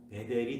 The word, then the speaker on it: 베델: 그러니까 베이트 엘 줄여서 빨리 발음하면 베델이 되는 것입니다.